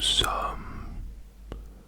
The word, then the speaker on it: sommes: At least when you say it, like, there's quite a bit of silent S's in there. Yep, okay, so when we get to the nous, which is we, nous sommes, nous sommes, nous sommes, nous sommes, and that's spelled S-O-M-M-E-S, nous sommes, nous sommes.